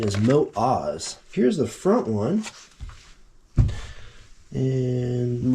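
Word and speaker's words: Motoz: tractionator GPS 50 50 Adventure tires I've been pronouncing this motos or Moto Z's for longest time but I believe the correct pronunciation is moat Oz here's the front one and rotations find the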